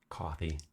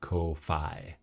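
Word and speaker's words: Ko-fi: Coffee. Yes. I do find it amusing when people call it Kofi because that's how it's spelled. It's like, no, no, no. You're It's buy me a cup of coffee.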